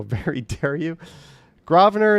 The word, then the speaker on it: Grosvenor: Grosvenor is how we say it.